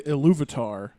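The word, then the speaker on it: Ilúvatar: He says like, and he doesn't say Iluvatar, he says Iluvata, right?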